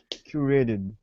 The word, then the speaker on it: curated: want to stress so here we have curated three syllables right curated so the we want to emphasize the first one so try and mimic